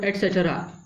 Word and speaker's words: etc: अब पढ़ते क्या है इसको, एटसेट्रा, ठीक है, जिसका मतलब क्या होता है इत्यादि, इनके अलावा भी और हैं, है ना, इन अदर। तो ये आपके लिए एटसेट्रा हो गया, ये भी